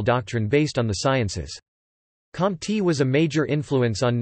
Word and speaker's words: Comte: Isidore Maria goosed francois xavier compte pronounced moist katie listen the 19th of January 1798